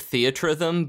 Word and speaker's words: Theatrhythm: I always think of Theatrhythm, but that doesn't make any sense either.